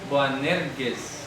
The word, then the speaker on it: Boanerges: Sí, oían, y eso, aquí que en español nos traiciona la G, al menos deberíamos pronunciar Boanerges. Boanerges, ¿ya? Boanerges, porque así sonaría en griego, pero en español decimos Boanerges. En arameo, en Neiraim, ni por ahí.